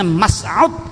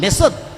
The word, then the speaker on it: Mesut: Nama asli Mesut Ozil adalah Mas'ud Ozil. Itu hanya pengucapan bahasa Inggris, Mesut.